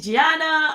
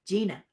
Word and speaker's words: Gina: don't we happy holidays gianna it's so good uh sorry gina gina i added another did i add another syllable in your name because i didn't read